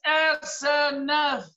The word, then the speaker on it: Asenath: because her name is Asenath. It starts with an A for Asenath, seven alphabets, seven church ages, and it ends with a silent vowel, Senath, a symbol of the rapture.